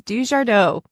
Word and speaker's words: DuJardot: welcome hello and yes my last name is dardo oh gosh I I knew I would pronounce that wrong I knew I would match